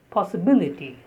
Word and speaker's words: possibility: The next word is possibility, possibility. The stress is on B, like the word ability, probability, advisability. So in such words, B is stressed.